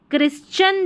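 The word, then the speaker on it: Christian: वैसे ही यह क्रिश्चियन जो है ना इसमें टी आई एन है। ध्यान रखें। इसमें इस टी आई एन को च पढ़ा है।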